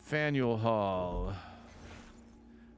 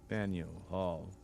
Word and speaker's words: Faneuil Hall: And Faneuil Hall. Don't let the French spelling confuse you. The name of this building is pronounced Faneuil or Faneuil. Faneuil Hall. Faneuil Hall.